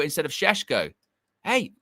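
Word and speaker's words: Šeško: You know, um, Yurya says, "For f's sake, just say Cesco instead of Shesho." Hey, pronunciations matter.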